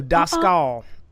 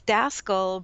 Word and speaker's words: Daskal: So Daskal. No. You got it right. American, it's Daskal, but in Europe, it's Daskal.